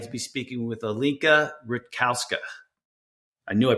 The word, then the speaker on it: Rutkowska: Today, I'm very excited to be speaking with Alinka Rutkowska. I knew I pronounced that wrong. How do you say it again? It's right. It's all right. Rutkowska. Yeah. Okay. Rutkowska.